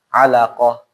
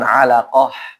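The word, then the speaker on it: علقة: nanti apa kalau alaqatan cara bacanya pakai apa ha da hak dada alaqoh jangan alaqah ya.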